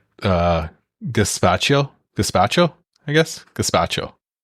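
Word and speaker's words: gazpacho: Gaspacho. That's the pronunciation.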